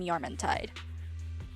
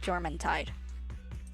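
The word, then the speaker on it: Jormuntide: So the J sometimes I pronounce as Y like uh I'm sure some people pronounce uh a certain pal in PAL world. His name I call him Yorman Tide, but I'm sure some people call it German Tide.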